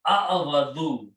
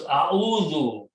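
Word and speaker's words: أعوذ: But the sound is a'awadu. It's hard to pronounce, so we adjust the sound because waw is a weak letter. And how do we adjust the sound? The sukoon we take from here and move here. And the sound of the waw, we move back here. So it becomes a'udhu.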